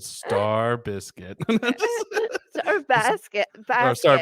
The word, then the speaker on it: Stankorb: It should say Stan, how it's actually spelled, and then underneath it, how to pronounce it, Star Biscuit.